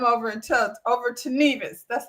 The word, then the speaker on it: Nevis: has to come over and tell over to Nevis.